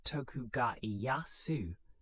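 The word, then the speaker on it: Tokugawa Ieyasu: Tokugawa Ayasu, pronounced Tokuga Yasu, was a patient and calculating daimo.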